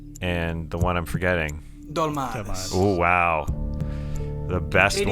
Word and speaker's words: Dolmades: Dolmades, am I pronouncing that right?